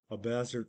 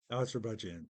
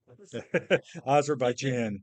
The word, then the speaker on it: Azerbaijan: That's still taking place in Abazar. I can never pronounce the name of the country, near Iran. Abazar, whatever. Azerbaijan.